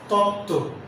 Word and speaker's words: তত্ত্ব: যুক্ত ব্যঞ্জনের সঙ্গে ব ফলা থাকলে তার উচ্চারণ হবে না। যেমন উজ্জ্বল, উচ্ছ্বাস, তত্ত্ব।